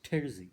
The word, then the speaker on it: terzi: The word derzi, tailor, in Turkish is pronounced as terzi, so it's spelled Terzi.